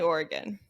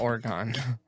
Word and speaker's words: Oregon: going both ways but definitely Oregon it doesn't not orgon but also what kind